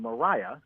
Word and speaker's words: Maria: Eclipse in 1878 and Mitchell who actually pronounced her name Mariah so Mariah Mitchell spelled Maria she was